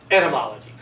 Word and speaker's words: etymology: you the etymology now be sure to pronounce it correctly if you were to say entomology that's the study of insects and that's not what we're talking about let's learn instead we're talking about etymology so the derivative is